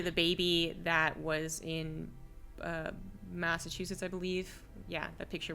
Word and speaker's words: Massachusetts: Well, how's that state pronounced again, Livy? Massa what? Sorry. Massachusetts. That's the one. Yeah. Massachusetts.